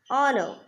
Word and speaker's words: honor: Next point, an is used before a word which begins with a silent H. An or, an honor, an honest.